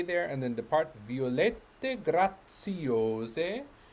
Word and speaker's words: grazie: and then depart violet grazie remember that the ts sound of grazie and i happen to